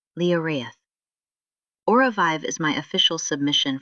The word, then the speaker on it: Lioraith: So my official submission is a safety reflex system, an operating system pronounced Leorth.